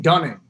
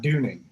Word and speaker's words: Dunning: uh in the middle it's dane dunning not dooney that's gotcha okay very